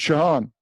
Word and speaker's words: Shaun: It would be awesome if we could, Shaun, if you could, is that how you pronounce it, Shaun? Yeah, you got it right, Shaun.